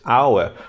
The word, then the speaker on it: hour: Sometimes you use an hour, beginning with H, but the sound here is not hour, it is hour. The vowel sound is here, H is silent.